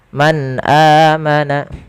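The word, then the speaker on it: من آمن: yaumil akhir, man amana Ada bacaan izhar pada lafal nun sukun bertemu dengan huruf hamzah. Cara membacanya, nunnya dijelaskan dengan jelas suara nunnya. Man amana, tidak boleh ditahan man amana, tidak, tapi dia jelaskan saja.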